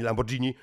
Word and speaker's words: Lamborghini: z tobą mamy Lambo mamy Lamborghini bo to tak się wymawia Lamborghini ukrył bo nie nie